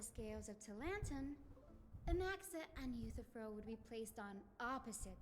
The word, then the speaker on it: Euthyphro: It's Euthyphro. If we were to place the 7 sages on the scales of Talanton, Anaxa and Euthyphro would be placed on opposite sides to achieve balance.